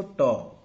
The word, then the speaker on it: tau: तो average mean life और average life of A radio active substance, जिसको हम टॉ से रिप्रेजेंट करते हैं, क्या प्रोनाउंस करेंगे इसको, टॉ, TAU, टॉ, ठीक है।